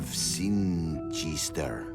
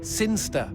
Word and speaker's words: Sinchester: But Elliot Thomas was still stuck down on Earth in the boring town of Sinchester. Sinster. What? It's pronounced Sinster.